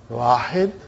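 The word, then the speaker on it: واحد: The way they pronounce, it will be, they won't say Wahidun. They'll say Wahid.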